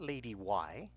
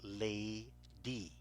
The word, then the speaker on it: lady: Lady. The A sounds long, and yet there's only one vowel. This is where the Y becomes a vowel, and it helps the A sound long, and the Y has no sound. It's not lady Y, it's lady.